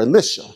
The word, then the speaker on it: Elisha: Case in point, Elijah and Elisha, or Elisha is a better way of pronouncing it.